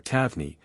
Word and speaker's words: Taverner: According to this source, 38 Taverner, or Tavney, as the name is locally pronounced, felt something get up